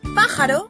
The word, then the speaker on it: pájaro: En la palabra pájaro, la sílaba tónica es pa, mientras que las otras dos son las sílabas átonas. Pájaro.